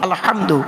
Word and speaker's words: আলহামদু: পড়ি আলহামদুলিল্লাহি রাব্বিল আলামিন আলহামদু এ গলার ভিতর থেকে হটা উচ্চারণ করবেন।